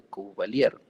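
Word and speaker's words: Couvelaire: que se llama el útero de cubalier se escribe covaliere y este útero de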